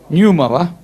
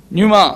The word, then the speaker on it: pneuma: பெனூமா, actually PNEUMA. PNEUMA. எப்படி அதை pronounce பண்ணலாம்? நியூமாவா? நியூமா. In Greek, in the New Testament.